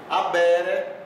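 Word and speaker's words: habere: Veja, aqui eu tenho monere, adibere, abere, merere, placere, tacere, proibere. Veja que o H em latim é mudo, não se faz aquele H aspirado, como às vezes tem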